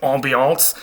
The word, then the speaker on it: ambiance: If something is ambient, it is all around you, and going with that, the ambiance, which comes through French, which is why we pronounce it ambiance, like it's a French word, because it is the feeling around you in a particular room or whatever.